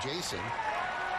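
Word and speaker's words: Jasso: His name is spelled J-A-S-S-O and it's pronounced Jason.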